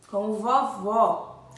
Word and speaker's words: vovó: Como eu falei para vocês na explicação de ontem, o acento agudo, né, é utilizado na sílaba tônica das palavras, a sílaba mais forte, quando a palavra possui o som aberto, como vovó.